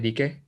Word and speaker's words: Dike: Moving on a little bit, you have the DK family. That's how you say it, right? DK? Yeah, DK.